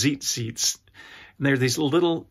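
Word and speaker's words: tzitzit: can read about him I think they're pronounced Zeit seats and there are these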